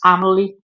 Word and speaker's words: Amelie: Um, Someone sent me how to pronounce the name, and it's Amelie.